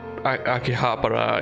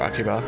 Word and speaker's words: Akihabara: I'm just thinking like Akihabara is gonna be, or Akiba, depending on how you say it. Akiba is just a shortening of Akihabara.